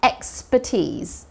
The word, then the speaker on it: expertise: T에 강세 있죠? expertise가 바로 너의 전문성이란 뜻입니다. expert. expert라고 하면 전문가죠. 그쵸? expert라고 하면 전문가인데 expertise라고 하면 바로 전문성이라고 볼 수 있습니다. 그리고 T-I-S-E로 끝난다고 해서 S 발음이 아니라 Z 발음 나옵니다.